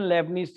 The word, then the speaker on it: Leibnitz: Newton's या Newton लेबनिज theorem, LEIBNITZ, T silent है इसमें, न्यूटन लेबनिज थ्योरम।